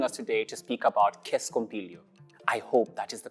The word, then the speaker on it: scompiglio: Anne, thank you very much for that performance and joining us today to speak about Scompiglio. I hope that is the correct pronunciation.